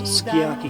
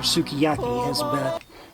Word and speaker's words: Sukiyaki: That is the song by Sakamoto that became a huge hit as Sukiyaki or Sukiyaki as Americans mispronounce it.